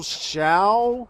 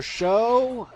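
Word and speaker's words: Tsao: These things are known as the Ape Generals, and they're known as General Shao or Shou. I mean, the spelling is T-S-O, but I'm assuming the T is silent because, Chinese and stuff.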